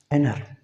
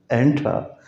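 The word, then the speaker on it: enter: देते हैं, 20, 20, एनर, ये टी नहीं पढ़ते हम, जैसे पढ़ते हैं ना एंट्रा, एंट्रा, एंट्रा नहीं है, ये एनर है।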